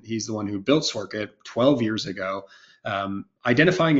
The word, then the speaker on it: Sworkit: does it mean um so it's sork it uh think of it as simply work it and that's really you know our CEO Ryan he's the one who built sork it 12 years ago um